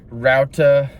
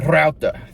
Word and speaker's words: Routa: Um, next we got Routa. Um, I didn't roll the R. Sorry, that was a very American pronunciation. Let me try that again. Uh, router. That's how you say it, I'm pretty sure.